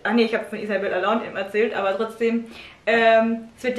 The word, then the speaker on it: Allende: Sie kommt aus Chile, also wird es Spanisch ausgesprochen. Allende. Arriba! Allende, Allende!